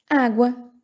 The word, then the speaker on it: água: Água, viram? Falei o U.